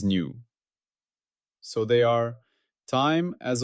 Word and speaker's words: nu: Its symbol is the Greek letter new pronounced new like new. I have mistakenly pronounced this as v. That was an error. It is new.